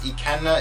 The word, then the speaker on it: Ikenna: So I took that word elevated, and my name is Ikenna. It's spelled I-K-E-N-N-A, but the first 3 letters are Ike.